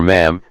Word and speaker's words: ma'am: royal highness and then sir or ma'am to rhyme with Jam accordingly for older members